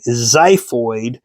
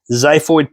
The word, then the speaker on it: xiphoid: pointy section this is my xiphoid spelled with an X xiphoid process we've got my